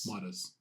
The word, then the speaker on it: Midas: Midas. Is that like Australian or American? I'm pretty sure that's pronounced Midas.